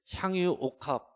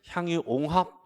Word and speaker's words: 향유옥합: 에 뭘 쌓기도 때 향유옥합 향유옥합 이라고 해야 되는데 발음이 여기는 새 가지고 향이 옹 합 이렇게 해가지고 별것 아닌 거지 많은